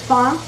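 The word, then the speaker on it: fond: Because we don't pronounce the D. So it's fawn, F-O-N-D.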